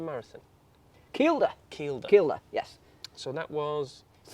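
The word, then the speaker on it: Kielder: How do you pronounce it, Ian? The Keilder Marathon. Keilder.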